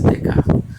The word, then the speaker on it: Descartes: Escreve Descartes, porém pronuncia-se Descartes.